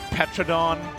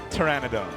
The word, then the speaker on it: Pteranodon: We run the gamut here on how to pronounce this card. Petradon, paternodon and the correct way. Pteryannodon.